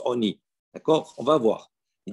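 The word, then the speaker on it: עני: Alors, on s'est écrit avec un vav, c'est écrit sans vav. Lechem Oni, on le prononce Oni.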